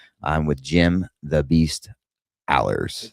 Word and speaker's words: Alers: I'm with Jim the Beast Alers.